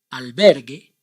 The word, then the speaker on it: albergue: this rule in Spanish the vowel U is not pronounced when it is just after the consonants and before the vowels